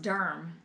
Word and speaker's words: Durham: it's not durham oops they even put it pronounced durm durham there now now i sound like a